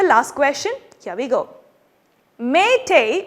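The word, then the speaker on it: Meitei: question here we go may tay which is spelled m e i t e i is the official language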